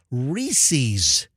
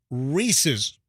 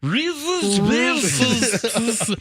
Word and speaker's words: Reese's: bet you a ton of our listeners say Reese's no it's Reese's so think Reese Withers spoon Reese Reese's all right we get it say it slower Reese's it's unnatural with the double it's like July